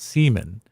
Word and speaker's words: Simon: His name is spelled Simon, but it's spelled pronounced seaman.